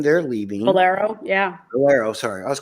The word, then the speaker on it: Valero: Valero.